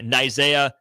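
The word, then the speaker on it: Zah: name is spelled and according to the Cal website it rhymes with Isaiah that's how you say nah Hunter is in the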